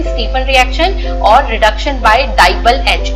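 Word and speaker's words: DIBAL-H: तो इनमें एक रिएक्शन है रोजेनमुंड रिएक्शन, स्टीफन रिएक्शन, और रिडक्शन बाय डाइबल H, इसको प्रोनाउंस करते हैं DIBAL, डाइबल H।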